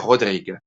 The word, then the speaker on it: Rodrigue: Se escribe casi como Rodríguez, pero sin la Z al final. Se pronuncia Père Rodrigue, en el cual la